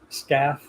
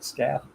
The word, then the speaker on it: Scalf: You pronounce it like S, calf, SCAF. There's CALF with an S in front of it, SCAF.